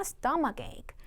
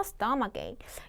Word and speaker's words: stomachache: stomachache. 한 번만 더, stomachache. 요거 발음 많이 실수하시는 것 같아요, 여러분. stomachache 하실 때 이렇게 발음해 주세요. 스토막 여기서 해주고 그리고 ache 해주시면 되거든요.